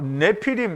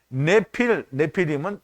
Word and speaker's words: 네피림: 네피림, 이게 여기 네피림인데 이제 발음은 네필이라고 하는데요.